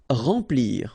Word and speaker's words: remplir: Remplir. Okay, M nasal, remplir.